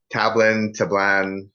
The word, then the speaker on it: Tablan: Tablan is the correct phonetically speaking, if you want Tablan?